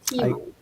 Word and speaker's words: Tiimo: It's Teemo. Teemo. Teimu.